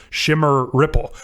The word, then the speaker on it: Shim Ripple: "I think Shim Ripple is pronounced Shimmer Ripple, which is an apt description.